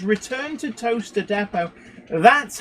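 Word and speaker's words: Towcester: seeing Road signs for toester and like I'm sorry but like you know T that's how it's spelled but no it's pronounced toaster like you know toaster to um Grox is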